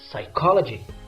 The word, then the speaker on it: psychology: done this the silent letter is P so the right pronunciation the word must be psychology excellent now let's finish